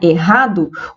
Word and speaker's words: errado: letras e 6 fonemas na palavra errado os dois erres são pronunciados com um único fonema esse fonema tem um som dr como em roma por exemplo como em roupa tá então é uma